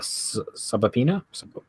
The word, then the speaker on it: subpoena: by giving Tony a subpoena subpoena subpoena yes there's a be in there and it's really confusing yeah not phonetically pronounced yes it's not MCU